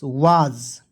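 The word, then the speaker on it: was: चलिए डब्लू ए एस वाज क्या पढ़ेंगे वा ज वाज यहां प एस है तो इसका उच्चारण ज के रूप में होगा ठीक है वाज वास नहीं पढ़ेंगे वाज पढ़ेंगे ठीक है वाज मीस क्या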